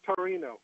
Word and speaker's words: Torino: It's Torino.